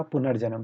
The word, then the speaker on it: पुनर्जन्म: अगर इसका सही उच्चारण हम बात करें तो सही उच्चारण कैसे होगा, पुनर्जन्म, ठीक है, पुनर्जन्म, ठीक है, जन्म।